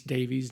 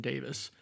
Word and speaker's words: Davies: And then I also kept mispronouncing John Rhys Davies' name. I kept saying Davis.